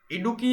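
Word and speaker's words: ഇടുക്കി: देखिए इडुक्की से हम देखते हैं कि इडुक्की यानी डुबकी, इसको याद रखिएगा डुबकी से, ये थोड़ा ऐसा ही प्रोनाउंसिएशन हो रहा है इसका डुबकी जैसा।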